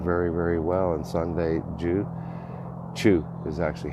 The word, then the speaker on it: Chu: And Sunday Chu is actually how you pronounce that.